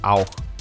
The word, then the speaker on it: auch: Yeah, if it's in German, it's auch, Auch, which means like also.